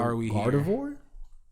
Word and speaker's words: Gardevoir: Gardevoir?